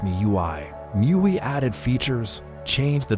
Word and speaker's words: MIUI: They called their version MIUI, pronounced me you I.